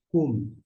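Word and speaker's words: קוּם: Nós temos aqui o cof com essa vogal aqui que é u e m no final. Desta forma fica cum.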